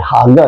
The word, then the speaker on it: haga: you meditate ay I think ano yan eh haga eh haga h A G A haga oh tama haga O haga na ang pronunciation niyan p natin yung pronunciation ng haga strongs 1897 haga.